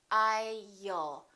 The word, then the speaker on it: I'll: Don't say I'll. Put a little between the I and the L. I'll.